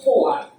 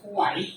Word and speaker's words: Hoare: Entonces, un señor de apellido Hoare, con H, Hoare, se escribe Hoare con